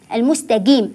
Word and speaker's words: المستقيم: في كلمه المستقيم المستقيم البعض يقول المستقيم جيم المستقيم القاف ركزوا على القاف في القران لا اقول الا بهذا النطق انطق القا قا قا المستقيم المستقيم ف اركز ايضا على